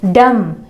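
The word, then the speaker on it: dumb: डम यानी गूंगा, डम पढ़ा जाता है, डम्ब नहीं पढ़ा जाता है।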